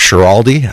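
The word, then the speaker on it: Schiraldi: Uh, as stated, my name is Shiraldi.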